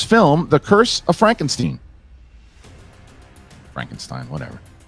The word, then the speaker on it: Frankenstein: Frankenstein, whatever. No, actually, it is Frankenstein. People just mispronounce it as Frankenstein.